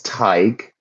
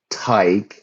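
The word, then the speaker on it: Tadhg: So this is Tig. Tig. That's how we pronounce it.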